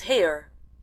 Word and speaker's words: Hare: happy his name is hare he pronounced it so as to rhyme with Mayor I love my love